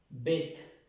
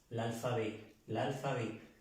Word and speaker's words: l'alphabet: No quiero corregir porque en el video yo dije que se pronunciaba bet, pronunciando esta T, no, l'alphabet, como si aquí tuviéramos un acento en esta E, l'alphabet français.